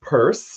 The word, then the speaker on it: Pierce: response to a um so it's actually pronounced purse I know but you